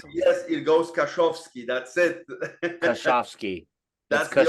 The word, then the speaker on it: Kaszowski: said, yes, it goes Kaszowski. That's it. Kaszowski. That's the only one I Kaszowski can Group.